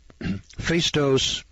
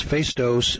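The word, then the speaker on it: Phaistos: calculating machine or a switchboard in crete the face dose spelled p-h-a-i-s-t-o-s i presume that's face dose disc discovered in 1908 shows evidence of having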